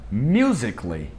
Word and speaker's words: musically: O mesmo vale para musically, não é musically, não é musically, esse A não é pronunciado.